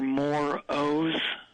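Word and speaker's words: More O's: Moore O's. Ugh. It's spelled Doctor, D-R period. Sure. The M-O-R-E, like the word more.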